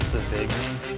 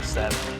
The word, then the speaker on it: Sevigny: A lot of people know me as Sevigny, which is right too, but we pronounce it Sevigny. Sevigny. Okay. Yeah, it's Sevigny. Free as possible.